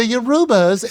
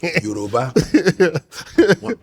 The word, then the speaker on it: Yoruba: You can mispronounce it once. And she kept doing it. And I was like, I'm sorry, I got to step in here. You're killing me. Yoruba. Yoruba.